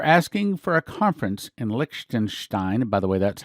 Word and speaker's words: Liechtenstein: freemason sources they're asking for a conference in liechtenstein by the way that's how you pronounce it soon the reason for this is